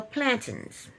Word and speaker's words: plantain: market where they sell plantings plantains um Jamaicans say plantin Americans say PL she said um where